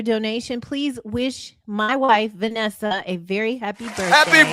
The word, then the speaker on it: Vanessa: But there's two N's. It's not Vanessa. It's Vanessa.